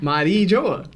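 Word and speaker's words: Mary Geoise: And I've been saying Mari Joa. You have to do it in French to say it.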